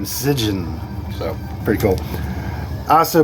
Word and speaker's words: Sijjin: I I don't think the S is silent. I was thinking Jen, but I was looked up some kind of I was trying to find a pronunciation of it and it brought some horror movie up and when they were talking about it, they kept on saying Sigen.